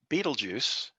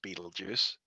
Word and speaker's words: Betelgeuse: orion's left leg and beetlejuice is number ten i want to point out here there's four different ways to pronounce betelgeuse so pick one uh it's the 10th